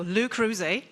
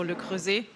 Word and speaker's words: Le Creuset: I've gotten used to pronouncing it the English way. So Luc but yeah actually it's a French company so Luc um and um yeah